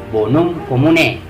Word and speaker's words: bonum commune: Menulisnya bonum communae ya, tapi membacanya bonum commune.